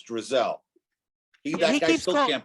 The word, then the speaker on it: Drzal: It's Drzal. That guy still can't pronounce it correctly.